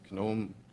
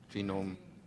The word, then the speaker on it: GNOME: do you pronounce my my pronunciation is gome genome yes yes sorry yeah yeah